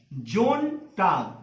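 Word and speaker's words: Sonntag: Next जोन टाग, अब इसको भी हम लोग ज प्रोनाउंस करें, क्यों, क्योंकि ओ हमारा क्या है, वॉवेल, समझ में आ गया। तो एस के बाद जब ओ आ गया तो ये हो गया हमारा जोन, जोन टाग, ध्यान रहे, जोन टाग।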